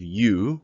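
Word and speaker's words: ㅠ: And here we have you, which is pronounced exactly the same as the word you.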